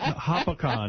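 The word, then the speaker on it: Hopatcong: All right, Mike, go ahead in Lake Hopatcon, New Jersey. Is that how you say it? Like a pack-on.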